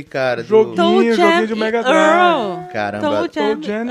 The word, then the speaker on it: Earl: Eu sempre falei o nome desse jogo como Toe Jam Early. E Early. até hoje eu leio esse nome como Early. Que é, Earl. como é que é a pronúncia certa? Earl. Earl.